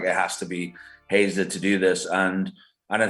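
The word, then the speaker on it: Haezer: Yeah, you pronounce it Hazer.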